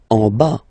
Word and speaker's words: en bas: En bas, final S not pronounced. En bas, en bas.